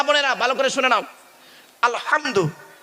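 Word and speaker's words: الحمد: না আব্বা বলুন না আলহামদু গলার ভেতর থেকে হে টা উচ্চারণ করবেন এই মা বোনেরা মা বোনেরা শুনছেন এই মা বোনেরা ভালো করে শুনে নাও আলহামদু গলার ভেতর থেকে হে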